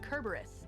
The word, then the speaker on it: Cerberus: Yeah, you guys know that Isn't Cerberus Hercules- actually isn't pronounced Cerberus. It's pronounced Kerberos in the original Latin.